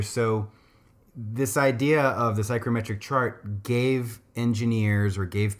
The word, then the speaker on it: psychrometric: humidity and temperature conditions, and we call this psychrometrics. And you can look that up, but it's spelled P-S-Y-C-H-R-O, and then metric, psychrometric.